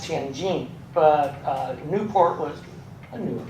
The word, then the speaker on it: Tianjin: It's part of Tianjin, pronounced Tianjin, but Newport was a new port.